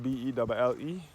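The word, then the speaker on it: Belle: The Bell is spelled B-E-L-L-E. It is referred to as the Bell.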